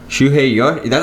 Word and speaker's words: Shuhei Yoshida: Shuhei Yoshida. I think that's the first time you've ever pronounced his name correctly.